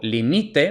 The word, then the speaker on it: limite: marcarlo con una tilde luego limite presente de subjuntivo tiene la segunda sílaba tónica limite según las normas